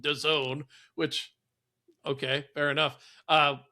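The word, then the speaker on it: DAZN: And yeah, for me the NFL Game Pass International, which is hosted on Don, D A ZN, which is somehow pronounced Done, which okay, fair enough.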